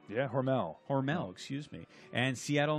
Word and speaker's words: Hormel: Did I pronounce that right? Yeah, Hormel.